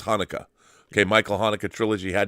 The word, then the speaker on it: Haneke: How do you pronounce his last name? Michael Haneke. It is Haneke.